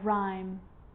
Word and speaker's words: rhyme: And with an R, rhythm, or rhyme.